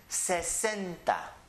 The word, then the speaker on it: sesenta: porfavor cincuenta again cincuenta the next one is Sesenta Sesenta setenta you can divide it it is the first syllable is say the next syllable is sin and the last syllable lista Sesenta read it please Sesenta the next one